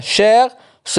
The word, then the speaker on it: cher: grave est heureux attention le masculin cher se prononcent chers comme le féminin cher ne confondez pas cher